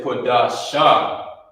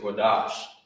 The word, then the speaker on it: Qadash: for this right here he wouldn't say quash because of this connected these connectors they like I said they combine they combine two of the characters together and you will pronounce it as such you will pronounce it the same way so like like it was combined so instead of saying it's connected at the bottom you say kadash you know I mean